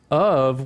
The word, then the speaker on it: of: the word of well we pronounce of with a v o v and so even